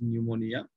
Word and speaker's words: pneumonia: So P is silent here, it is pneumonia.